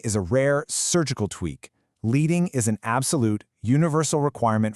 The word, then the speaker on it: leading: So this brings us to leading. And yes, that actually rhymes with bedding.